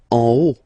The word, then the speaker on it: en haut: En haut, en haut. Okay, final T not pronounced, and then this H as previously, you don't pronounce it, so this is O.